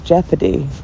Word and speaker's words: jeopardy: And the word is jeopardy. So Aussie was right the first time but then he started saying it wrong. But it's definitely jeopardy not jeopardy. Jake confused me. And not jeopardy definitely. It is spelled like that but it's jeopardy.